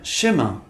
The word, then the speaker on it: chemin: O sexto grupo de vogais compostas, IN e M, pronuncia-se como AN. Este som não se coloca grandes problemas. Por exemplo, na palavra chemin. Observe o IN final desta palavra.